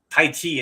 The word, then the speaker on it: Tai Chi: It is just Tai Chi and Chi Gong. See, most people think of Tai Chi the way it's spelled at the beginning of our title for today as t h i c h i and Chi as in the Chinese life force Chi. But it's not.